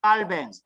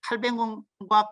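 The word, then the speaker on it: Calvin: 하셔요 요한 칼빈에 프랑스 프랑스 사람이기 때문에 프랑스식 발음으로 하면 깔뱅 깔뱅 칼뱅 뭐 이제 이렇게 발음 하는데 이제 칼뱅과 깔뱅의 중간 정도 발음되는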